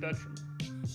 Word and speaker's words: Bertram: but but that's some I think in English it's it's just beram beram okay cool cuz I'm